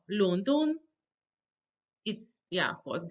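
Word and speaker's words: 伦敦: And then we have, of course, London, the second and the first tone together, 伦敦.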